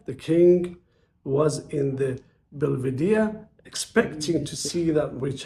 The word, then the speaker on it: Belvedere: The king was in the Belver, how do you say it? I think Belvedere. Belvedere.